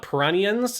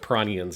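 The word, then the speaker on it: Piranhans: done by the band Piranians is how you'd say it in in Japanese. It's spelled P I R A N H A NS. um stylized in English, but it would be pronounced Piranians if you look at the Japanese.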